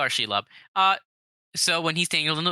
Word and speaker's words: Shelob: Shlob. Shlob. I believe it's Shelob. It's usually pronounced that way in the games.